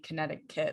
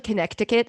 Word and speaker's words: Connecticut: were correcting me on saying kinetic kit like i said it wrong um yeah it's actually connecticut if you yeah that's